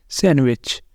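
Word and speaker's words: sandwich: first word है सैंडविच अगर आप इसको सैंडविच बोल रहे हैं तो आप इसे गलत बोल रहे हैं क्योंकि यहां पर डी साइलेंट होता है सैंडविच सैंडविच डेट वेनसडे यहां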